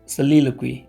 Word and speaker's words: soliloquy: ठीक, पहला वर्ड है, इसका प्रोनाउंसिएशन होता है soliloquy।